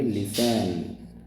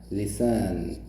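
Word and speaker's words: listen: इसको हम लिसन नहीं पढ़ेंगे इसको हम पढ़ेंगे लिसन लिसन ठीक है तो लिसन में टी साइलेंट हो जाएगा नेक्स्ट है बच्चों राइट ए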